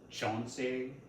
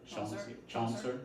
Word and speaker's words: Chaucer: Well, it comes from Chauncey. Is that how you say it? Chaucer?